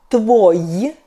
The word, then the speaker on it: твой: Masculine — твой .